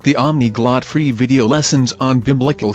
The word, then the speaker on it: Omniglot: Speaking of languages, you might like the Omniglot free video lessons on Biblical Hebrew. That sounds like polyglot.